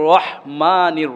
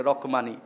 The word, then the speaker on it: রহমানির: না, বিসমিল্লাহির হ বিসমিল্লাহির রহমানির রহিম, সঠিকভাবে উচ্চারণ করাটাই হলো আসল। অনেকের কাছে আমি শুনেছি রহমানির রহিম বলে, রকমানি, রয়ের পরে ক, এটা ভুল, অর্থ চেঞ্জ হয়ে যায়।